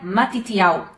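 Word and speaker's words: מתתיהו: O nome Mateus vem do hebraico e ele se pronuncia matitial.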